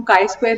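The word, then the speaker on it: χ²: जिसे लिखा जा सकता है ये जो कैपिटल x जैसी शेप इसको हम काई स्क्वायर ही प्रोनाउंस करेंगे।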